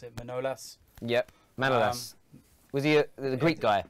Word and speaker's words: Manolas: how do you pronounce it? Manolas? Yep, Manolas.